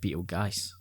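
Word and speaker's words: Betelgeuse: it's pronounced Beetlejuice.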